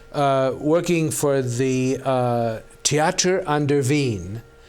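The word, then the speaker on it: Wien: for the theater under Veen Veen is the actual German name of Vienna WI en pronounced Veen and I was directing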